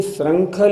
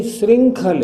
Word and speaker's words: श्रृंखल: सभी ध्यान से देखें, ये श्रृंखल नहीं श्रृंखल है, ये री की मात्रा है।